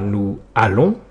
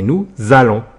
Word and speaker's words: nous allons: Autre remarque, on ne dit pas nous allons mais nous allons. On fait la liaison.